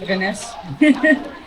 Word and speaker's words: Vaness: That's how you say it, Vaness.